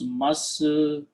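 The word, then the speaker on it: مسجد: Okay, and you pronounce masjidun. Okay, that's how you put the harakat. When you stop, you say masjid.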